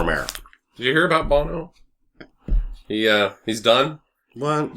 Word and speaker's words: Bono: Shir is also there is it boner or Bono Bono okay so I was saying it right this what's his real